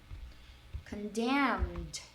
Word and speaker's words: condemn: E repare que, né, por terminar com um M e um N, a gente pronuncia os dois. É um pouco estranho. Condemn. A gente vai pro depois a gente acaba atrás dos dentes, né?